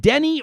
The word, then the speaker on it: Denis: name correct is it denny or dennis am i am i saying it correct how do you pronounce it it's uh pronounced dennis my mom spelled it the french weight pronounces it anglicized for whatever reason you